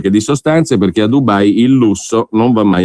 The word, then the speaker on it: Dubai: C'è chi c'è stato naturalmente in queste vacanze a Dubai, che non si pronuncia alla milanese, perché sennò diventerebbe Dubai in sci, Dubai con la U chiusa e non la U di eresata.